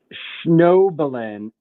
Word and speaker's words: Schnoebelen: yeah, just so we know his name, how do you pronounce his name? Hold on, let me look at it. It sounds Jewish. Schnoebelen.